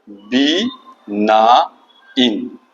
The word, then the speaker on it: benign: हो सकता है BENIGN, इसका उच्चारण होगा बी ना इन, यानी लेटर बी जो होता है उसके बाद 9 वर्ड लिख देते हैं तो वही उच्चारण इसका होगा बिनाइन।